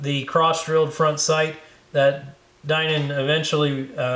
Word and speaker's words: Dinan: The gun really nicely customized by Alton Dinan, or Dinan, depending on how you pronounce that, D-I-N-A-N.